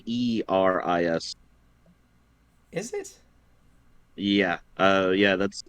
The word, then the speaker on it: Eris: I'm just gonna call him Ares, because Ares is also Greek. She's the goddess of chaos. Yeah, but that's Ares is spelled Eris.